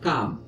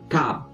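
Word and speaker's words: Cám: Et donc voilà, c'est genre là vous avez un accent circonflexe pour Taam et un accent aigu ce qui donne Kaam. Pour la suite de l'histoire, je vais prononcer Taam et Kaam.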